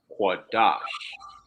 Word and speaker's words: Qadash: familiar with this word it's the qua is separate then you have the da which is connected to the y all right so you you would pronounce that as quadash all right la shawwan